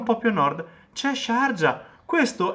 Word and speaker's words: Sharjah: Questo si scrive, si legge Sharjah, non è Sharia. Sharia si scrive con la Y, Sharia, e si scrive diverso, Sharia, ed è una cosa diversa. Sharjah è il nome di un emirato.